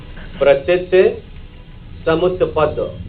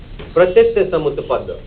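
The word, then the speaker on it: Pratityasamutpada: Pratitsamutpada. Pratitsamutpada. What philosophy? Don't hesitate in saying.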